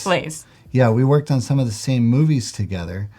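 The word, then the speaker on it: Blaise: Did I pronounce his last name right? Blaze.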